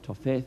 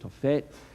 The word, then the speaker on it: Tophet: Topet looks like toth but it's pronounced tophet.